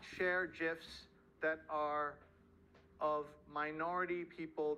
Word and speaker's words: GIF: So the guy who created it says GIF, like the peanut butter, but everyone else says GIF, so I'll also say GIF.